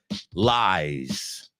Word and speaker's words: lies: So, lies. Lies rhymes with rise. Lies rhymes with realize. I realize he lies because you can tell by his eyes.